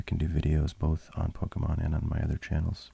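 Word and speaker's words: Pokémon: It's Poke, which is why the E is accented there. So I should be saying Pokemon, but forgive me if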